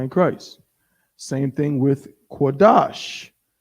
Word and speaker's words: Qadash: Christ same thing with quadash how many syllables is that two it's not quadasha skodash so we know what